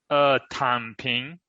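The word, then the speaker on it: 躺平: Tan Ping.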